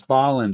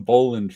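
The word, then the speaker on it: Bolland: Balland I forgot. It's Baland. I for He taught me last week, but I forgot since then. Sorry. I've been calling him Boland for years.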